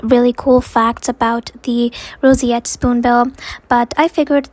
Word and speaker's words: roseate: So um you have to kind of pronounce it as se.